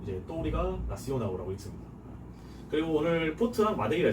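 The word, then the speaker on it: Touriga Nacional: 뭐 포트가 아니면은 이 포트에도 쓰이는 여기 보면은 또우리가 나시오나우라는 품종이 있어요. 나시오날이라고 읽을 것 같지만 이게 역시 L이 끝에 붙으면 또 우라고 발음을 하는 경향이 있어서 포르투갈에 되게 우로 꺾이는 발음이 많아요.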